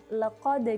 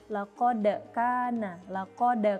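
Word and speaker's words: لقد: Nah, contoh kesalahannya adalah yang pertama ada kalimat laqad kana, tapi membacanya laqad kana. Jadi lebih cenderung kepada harokat fathah.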